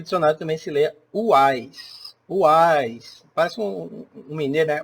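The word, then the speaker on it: Houaiss: dicionário também se leia Uais. Uais. Parece um mineiro, né? Uais, mas Uais mesmo. Não tem esse H é mudo, tá? E o O não se pronuncia. É Uais.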